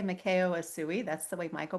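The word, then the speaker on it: Mikao Usui: I say Mikao Asui. That's the way Michael pronounced it.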